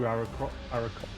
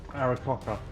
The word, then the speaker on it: Aarakocra: Takes them over their max into the 2 Aarakocra. Damn it! The 2 birdmen that we like. Cur and beak. Yeah. Okay. The secret is that the middle syllable is is cock. Aarakocra.